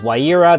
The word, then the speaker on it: Ewella: ally encounter banner for Ewella. I guess Waira, there's a few different pronunciations and spellings based on Japan, and of course we get Ewella.